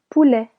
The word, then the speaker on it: poulet: Du poulet. Chicken. Here, letter T isn't actually silent. It is added to turn this into a phonetic E.